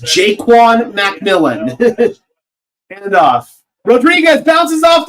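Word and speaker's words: Ja'Quan McMillian: It is pronounced Jaquan McMillan.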